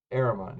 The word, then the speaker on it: Ahrman: I keep forgetting how to pronounce it. Ahrman. Ahrman, yeah.